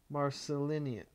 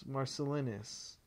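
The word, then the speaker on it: Marcellinus: e l l i n u s amminus marcelin Marcel Marc marcelus that's I think how you say it and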